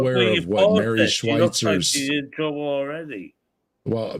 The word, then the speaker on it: Schweitzer: Her name was Mary Schlesinger. She got the name wrong.